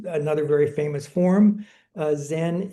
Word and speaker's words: Zen: Uh Zen is is a Japanese pronunciation of a Chinese character which is chan and chan means meditation.